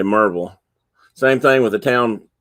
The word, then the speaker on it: Maryville: road called maryville m-a-r-y-v-i-l-l-e but here it's pronounced marvel if you say you